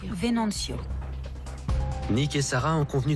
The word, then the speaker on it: Venancio: Comment on prononce son nom? Venancio. Venancio.